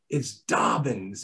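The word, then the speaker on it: Dobbins: It's either Dobens or Dobens. And it's like, no, it's Dobens. We spell it incorrectly. We know we do, but it was an Ellis Island bastardization of the name D-O-B-B-I-N-S is the way I pronounce it.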